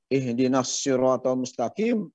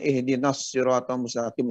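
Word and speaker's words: اهدنا الصراط المستقيم: saya suka dengar juga ihdinas foto mustaqim harusnya ihdinashirotolmustakim Ustad kadang-kadang tertukar dengan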